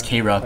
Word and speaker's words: Kharaa: actually see that I'm playing as the car and I know some people might pronounce it as KRA but they're basically the